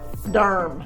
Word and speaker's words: Durham: like that okay and Derm of course is spelled d-u-r M Derm Derm keep it keep it